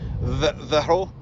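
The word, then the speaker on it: Verreaux: So So Verro. X is not Usually not pronounced. it's silent.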